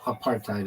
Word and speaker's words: apartheid: Why Americans say apartthe hide or part height? Yeah. So why am I saying it like cuz it's spelled that way? Aparthid. That's exactly how it's spelled. Aparthid. a part. I mean, I I' used both of them, but well, I don't know if I've ever said, no, apartheid is what they say.